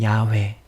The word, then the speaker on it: 야훼: 이를 행하는 여호와, 그것을 만들어 성취하시는 여호와, 그의 이름을 여호와라 하는 이가 이와 같이 이르시도다. 뭐라고요? 이를 행하시는, 이제 다르게 또 다른 발음으로 또 알려드릴게요. 이를 행하시는 야훼, 그것을 만들어 성취하시는 야훼,